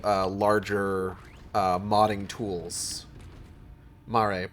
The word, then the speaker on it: Mare: Mare, pronounced not like the horse girls.